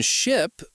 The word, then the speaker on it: ship: In ship, we use a short I sound. In sheep, it's a long e, right?